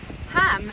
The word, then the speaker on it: Holm: There is the parish of Ham, and for those of you who aren't so familiar with Orkney, Ham is spelt H-O-L-M.